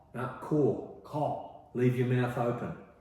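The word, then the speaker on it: corps: It's It's pronounced exactly the same way as in apple core.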